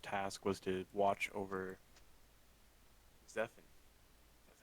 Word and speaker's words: Zephant: and his first task was to watch over zephan that's how you pronounce that in the dungeons because zeffin kind